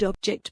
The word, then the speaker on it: object: Here I've circled object because it is said to object, accented on the last syllable.